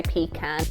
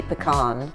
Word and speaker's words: pecan: Pecan. Oh, I love that. Pecan. But I think it's pronounced differently depending on which region you're in the US, actually.